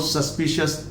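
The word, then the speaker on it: suspicious: जब शब्दों के लास्ट में CIOUS हो या TIOUS हो या XIOUS हो, तो इन्हें कभी भी CS नहीं बोलेंगे, शस बोलेंगे। क्या बोलेंगे? शस।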